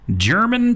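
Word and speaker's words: Jermyn: You can take that uh mobile app anywhere with you, even listen in out in German, Texas. That is spelled J E R M Y N.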